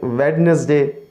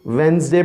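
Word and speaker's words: Wednesday: अब कुछ कहते हैं वेडनेसडे, कुछ क्या करते हैं जी वेंसडे बोलते हैं। तो इसकी सही तलफ़ुज़ क्या है व्यूअर्स, वेंसडे, वेंसडे।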